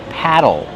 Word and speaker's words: paddle: Plus a short ul sound like in table and bottle. Paddle.